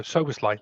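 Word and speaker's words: Szoboszlai: Well, yeah, I mean, it's given me a few days to practice pronouncing his name. So Soboslai, there we go, got it right first time.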